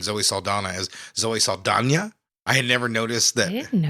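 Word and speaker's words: Saldaña: Yeah, it's got an Enya on it, so you have to pronounce that.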